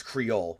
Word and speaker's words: Creole: It's pronounced Creole. Okay, thank you. It's Creole.